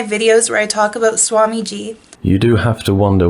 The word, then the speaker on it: Swamiji: No, it's with a J-I at the end, Swamiji. And she's going to explain how she is definitely not in a cult.